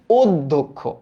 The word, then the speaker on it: অধ্যক্ষ: এটার উচ্চারিত রূপটা কি অধ্যক্ষ অ আছে বাট ও হচ্ছে কেন অ থাকা সত্ত্বেও এটার সংবৃতরূপ কেন হইতেছে এটার কারণ আমরা জানি যে জ ফলার আগে জ ফলা যুক্ত শব্দের আগে যদি একটা অধনি থাকে হ্যাজ ফলাযুক্ত বর্ণের